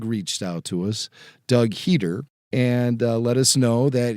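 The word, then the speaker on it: Heder: we talked about John heater the actor better known as Napoleon Dynamite some people mispronounce his name and call him John header those guys are idiots like I was a couple weeks ago and I've done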